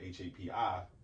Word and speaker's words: Hapi: But I think of the pronunciation hapi, happy river, ancient Kemet, Nile River, right?